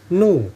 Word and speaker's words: nu: n * h * NU nah ini bacanya Nu ya e bukan V Nah jadi Nu jadi